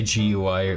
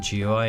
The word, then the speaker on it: GUI: It's you can say gui or gooey or jewey.